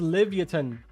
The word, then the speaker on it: Livyatan: It's pronounced Livyatan.